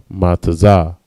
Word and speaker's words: matazah: Unleavened is matazah. Ma, tazah, and ha. Matazah. Next word is unprofitable, right?